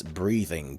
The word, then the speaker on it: breathing: There is no breeding here. It's breathing with a breath. With a th breath.